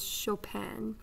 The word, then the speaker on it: Chopin: composer named frederick chopin his last name looks like chopin but it but it really is chopin so that is how you say it and i'm not lying